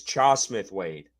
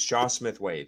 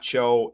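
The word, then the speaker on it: Chau Smith-Wade: It's Chaw Smith Wade. It's Chaw Smith Wade. That's how they pronounce it. It's how Canalis has said it. It's not Cho. It's Chaw Smith Wade.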